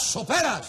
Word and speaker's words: sopera: ¡Esos son las soperas! ¡Sopera! Con acento en la pera.